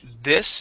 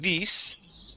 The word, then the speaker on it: this: look at um uh two words with the short I okay so this instead of these okay this and in